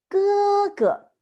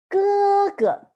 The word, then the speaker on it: 哥哥: So the older brother in Chinese is 哥哥. 哥哥.